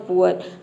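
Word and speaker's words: poor: ओ के जगह पे तो ये हो जाएगा पुअर तो आपको पता चल जाएगा कि हां प्रोनंसिएशन इसका यही होगा पुअर ही होगा अब देखिए यहां पे ये बेसिक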